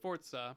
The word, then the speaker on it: Forza: And yeah, it is actually pronounced Forza because it's Italian. So, you got to put a T in there, even though a T doesn't exist.